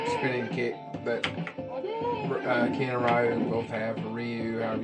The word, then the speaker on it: Ryu: I've always liked to do the spinning kick that Ken and Ryu both have, or Ryu, however you say his name.